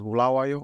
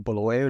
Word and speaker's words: Bulawayo: So I grew up in the second largest city of Zimbabwe, and that is Bulawayo or Bulawayo, depends on your pronunciation.